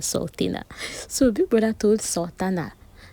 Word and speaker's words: Sultana: So it's Sultana. not Sultana. I keep calling her Sultana.